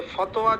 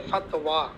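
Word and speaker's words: فتوى: তাহলে বুঝে থাকলে আমরা একটু খেয়াল করি যে ফতোয়া যদি বিফাতহিল ফা হয় তাহলে উচ্চারণ হবে ফাতওয়া, আর যদি বিদম্মিল ফা হয় তাহলে হবে ফুতিয়া।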